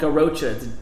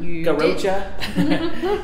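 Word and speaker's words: Garrotxa: alva hoven and um it's called garocha it's g-a-r-r-o-t-x-a did i spell it right garocha and uh so it's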